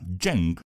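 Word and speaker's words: Zheng: shuang que en ese entonces simplemente se llamaba jeng eso se escribe Z h e n G logra hacerse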